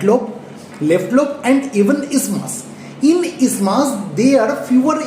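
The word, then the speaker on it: isthmus: The actual pronunciation is ismas.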